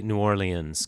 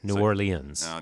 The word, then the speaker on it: New Orleans: that's correct that's right there are many ways to say it a lot of people say I say New Orleans copying some of my colleagues who are from there New Orleans that's that's largely done